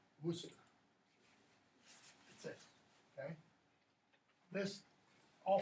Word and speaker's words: Worcester: Or American crass pronunciation, Worcester. Sure. How's it really pronounced? Worcestershire? Worcester. That's how that is pronounced. Worcester.